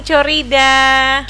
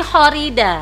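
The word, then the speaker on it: Chorida: Assalamualaikum Kak Corida. Corida ya? Teman-teman dulu ngomongnya begitu. mana? Corida. Padahal bukan ya. Nyebutnya gimana? Horida. Horida. Emang ejaan lama ya? Oh gitu. Bukan Co jadinya ya.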